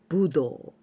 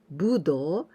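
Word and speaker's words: 武道: amazing for me because this kanji we usually pronounce budo budo it means martial arts martial arts budo but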